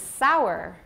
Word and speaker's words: sour: up by taiwanese and that's sore and sour because in mandarin they are both swan like this one right but in english they're similar but totally different actually hansson my